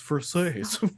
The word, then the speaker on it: Versace: He's like, it's pronounced Versace.